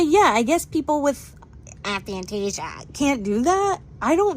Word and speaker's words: aphantasia: I think it's called, like, aphantasia or something.